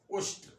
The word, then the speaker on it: उष्ट्र: ऊँट को जो है संस्कृत में उष्ट्र कहते हैं, उष्ट्र, लेकिन उष्ट्र का उच्चारण जो है कालिदास उट्र कह रहे थे, उट्र, समझ रहे हैं ना, उट्र।